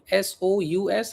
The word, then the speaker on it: sous: Okay, now this préposition sous, s o u s. How do you pronounce sous?